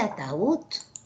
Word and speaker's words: ataúd: le tilda por ejemplo cuando dices a ataúd tiene tres sílabas cierto ahora cuál es la sílaba tónica de ataúd ataúd ataúd ataúd Esta